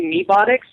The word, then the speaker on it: Mebotics: Yeah, it's open interpretation on how you pronounce it. I say Mebotics.